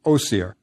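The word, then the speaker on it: Osiris: we add o Cirrus which the ancient Egyptians pronounced OCR remember the Greeks add all those is endings next add Isis and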